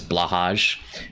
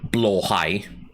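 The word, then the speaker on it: Blåhaj: so she so Rin always pronounces the Ikea shark as blahaj when it's supposed to be blow high but whatever you know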